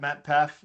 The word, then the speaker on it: Matt Paff: I'm still on the socials at Matt Paff, like MATTPAFF, 2 syllables, over and done with.